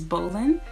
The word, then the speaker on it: Bolin: My last name is Bolin. You do not spell my last name the same way that, you know, you would spell the sport, Bolin, even though it's pronounced the same way.